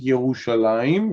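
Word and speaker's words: ירושלים: Right, Yerushalayim, yeah. It's written like this, but pronounced Yerushalayim, right?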